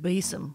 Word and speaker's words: besom: fancy word for broom I really hoped when I looked at up the pronunciation of beum that it was B like French or something but it's not it's just bog standard beum G boring but a beome before